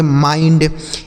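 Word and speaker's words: mind: उसी तरीके से इसे पढ़ेंगे माइंड, एम आई एन डी, माइंड, इसे मिंड नहीं पढ़ेंगे, माइंड।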